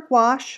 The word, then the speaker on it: gouache: you could use gouache if you're looking for quash which is opaque watercolor it's spelled G oh you a CAG and that